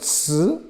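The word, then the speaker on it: 词: The third layer is called ci, C-I, the second tone.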